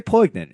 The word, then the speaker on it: poignant: it was very poignant. I mean, it wasn't like It's very what? poignant. Poignant. There we go. That's what I said. You pronounced the G. Soft G, but you pronounced it.